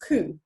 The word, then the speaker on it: coup: Okay, so it's coup. The P is silent.